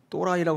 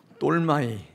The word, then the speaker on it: 똘마이: 로메가 근데 돌로 이게 똘마이 히브리어에서 근거한 이름인데 또라이라고 하시면 안 되고요 똘마이 발음이 좀 비슷한 거 또라이 근데이 똘마이 뜻은요